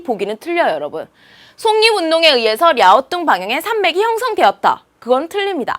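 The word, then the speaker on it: 랴오둥: 그래서 요동반도를 향해 있다는 뜻으로 우리가 바로 중국 발음 그대로 랴오뚱, 요동이 랴오뚱 방향 뜻으로 랴오뚱 방향의 지질 구조선이 그입니다.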